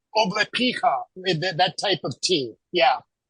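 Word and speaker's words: облепиха: You'll never stop drinking what's called oblepicha, that type of tea.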